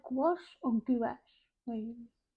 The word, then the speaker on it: gouache: You say gouache or gouache? Wait, gouache. I mean, if you were saying it phonetically, it'd be go ache.